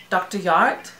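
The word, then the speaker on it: Jart: Yart, because I know you don't pronounce the J as a J.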